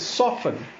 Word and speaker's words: soften: last word we have not softer te silent so it is soften here costal fossil mortgage